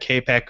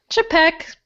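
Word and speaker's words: Čapek: that and it turns out that I've been pronouncing in my head Capek for so long and that's how I still pronounced in my head but the print proper real pronunciation is chibok chipak capek Shannara Shannara you know whatever there you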